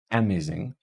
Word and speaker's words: amazing: on the first syllable what about amazing amazing that is stressed on the second syllable it's not amazing or amazing it's amazing